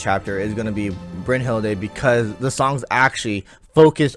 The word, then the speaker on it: Brynhild: is going to be Brynhilde, because the songs actually focus on Brynhilde. For those who don't know, Brynhilde is the Japanese pronunciation. I know it's Brynhild, but in Japanese her name is Brynhilde.